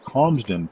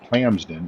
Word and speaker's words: Calmsden: the way, it's pronounced Calmsden Park Farm and not Clamsden, as you might hear other YouTubers and such refer to it. It's not, you don't sell clams here. It's a very calm community, Calmsden.